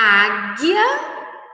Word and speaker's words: águia: por são elas a águia águia nós não escutamos o som da letra u o Foguete O guepardo